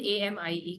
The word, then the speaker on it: amie: So if you, but pronunciation is same. Masculine, that is, masculine, that is AMI with I, that is AMI, and feminine AMIE, clear?